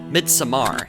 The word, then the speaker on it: Midsommar: the genres unholy alter mid Samar and I promise that's the first and last time I resort to the pretentious pronunciation of its title is a striking indication